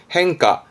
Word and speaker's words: 変化: 발음은 행가, 행가. 음으로는 카로 갑니다. 행가.